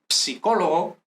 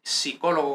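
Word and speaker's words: psicologo: Y psicólogo, que como habíamos dicho, no es psicólogo como en español, sino psicólogo, ¿no? Entonces, en italiano se pronuncia psicólogo.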